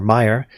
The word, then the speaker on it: Meir: Rabbi Meir, or Meyer, M-E-I-R, it's spelled, Yeshurun, S-E-Y-E-S-H-U-R-U-N, of the Kabbalah Center in Boca Raton, Florida, told a reporter for the Palm Beach Post.